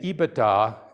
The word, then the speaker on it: EBITDA: first product right so we don't so again ebitda and that's how i hope everybody's taught to pronounce it i just a few i've heard